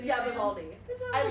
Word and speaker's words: Vivaldi: Yeah, Vivaldi.